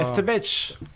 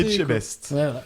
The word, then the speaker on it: Etchebest: épisode sur la gastronomie Estebech. Il sait pas le dire. Estebech. Non, Estebech. C'est bon, il l'a juste mal prononcé. Etchebest.